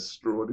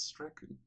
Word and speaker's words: Strachan: It ain't Strawn, it's Strachan.